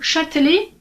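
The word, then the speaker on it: Châtelet: кому вимовляємо як його Або вона взагалі не вимовляється раніше ця назва зупинки звучала мадюля але оскільки французи зазвичай цю і не вимовляють і щоб це було природньо все ж таки тепер ці зупинки звучать як шатлі медленне тобто ця і вже випадає такс наступний шостий факт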